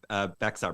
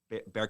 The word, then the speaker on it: Bexar: Yeah, you guys actually have a project in Bexar County, Texas, that you told me about, correct? Yeah, it's actually pronounced Bear County, which I pronounce it Bexar.